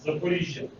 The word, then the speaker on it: Zaporizhzhia: airport, and they flew all the way to Zaporizhzhia in Ukraine. How do you say that? Zaporizhzhia.